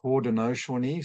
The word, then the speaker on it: Haudenosaunee: Now, I might be mispronouncing it, but I believe it's Haudenosaunee, something like that.